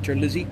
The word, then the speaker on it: Terlizzi: Eric Terlizzi, it ought to be, but he pronounces it Terlizzi.